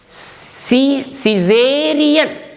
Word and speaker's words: Caesarean: Caesarean, Caesarean.